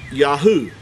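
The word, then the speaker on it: יהו: why we know that the first three letters of the creator's name is pronounced Yahoo Yahoo Yahoo the all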